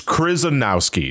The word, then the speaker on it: Krizanowski: It's Krizanowski. That's how you pronounce the last name.